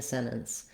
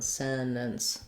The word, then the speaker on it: sentence: enzyme sentence in a sentence and then there's maybe a little bit more of a vowel between the two ends on sentence so that it still has two syllables this has two syllables